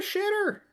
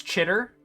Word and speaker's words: Chitter: You're a shitter. It's pretty standard. It's Chitter. Whatever. No, you come out here, I'm gonna give definitely you a mispronounced briefing. it. It's Chitter.